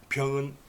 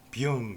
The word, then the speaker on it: 丙: 드러나는데 반절이라는 것은 뭐냐 그러면은 이 병할 때 병은 비읍이죠. 응? 영, 병의 비읍과 영에서 이응을 떼버린 거, 그것을 합해서 발음을 하면은 병이 되죠. 병. 그래서 우리는 병 그렇게 하는데, 이걸 중국어 그 발음을 찾아봤더니 비영 그러더라고요.